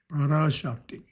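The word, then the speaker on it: Parashakti: So sec first belief prashiva second belief praashti it's a long a there which I sometimes forget to pronounce parakti belief number three regarding god as personal lord and creator of all.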